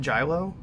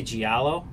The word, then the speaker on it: giallo: pronounce it is it jello or jello I always say giallo Jia whoa but I think the the ELLs are wise so it's like GI o or some but I